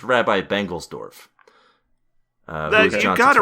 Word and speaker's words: Bengelsdorf: But she does later meet I'm not even going to try and pronounce it. Oh, it's Rabbi Bengelsdorf.